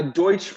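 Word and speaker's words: Deutch: Ted Deutsch what was that like am I pronouncing his name correctly yeah so uh Deutsche Congressman Deutsche it was like Direction youth cabinet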